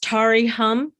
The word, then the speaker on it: Terry Holm: that's okay it's yeah it's pronounced tari hum but that that's fine